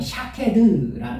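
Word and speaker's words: שקד: 근데 그것과 아주 비슷한 발음이 샤케드라는 말이 무슨 말이냐면 지키다라는 뜻이에요.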